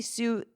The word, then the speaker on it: sous: Did I say sous therapist? Is that how it's pronounced for like a sous chef?